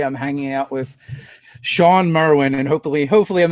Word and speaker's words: Merwin: nerds and today I'm hanging out with Sean Marwan and hopefully hopefully I'm not bushing your last name too badly it's pretty much like it spelled and win I like it when things actually pronounced the way they are spelled I do